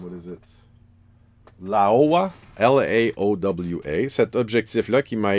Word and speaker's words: Laowa: a micro lens, in the sense that this lens here, which is a, I can never pronounce this name, what is it, Laowa, L-A-O-W-A, cet objectif-là qui m'a été prêté par